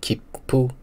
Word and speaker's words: 切符: 另外有一个很像的汉字，叫做切符，读音是 kippu。